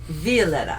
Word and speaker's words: Violeta: did you find her are looking for Violetta Violetta viola that's the Spanish pronunciation where was she she was at the